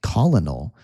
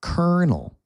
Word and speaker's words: colonel: So this colonel, it's a hard word to pronounce in English, right? It looks like colonal but we say colonel.